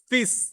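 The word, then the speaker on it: fils: দেখেন ফিস, এল এর উচ্চারণটা হচ্ছে না ফিস, ফিস মানে হচ্ছে সন বা পুত্র।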